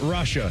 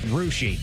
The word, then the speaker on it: Russia: It's also not Russia. It's Rushi.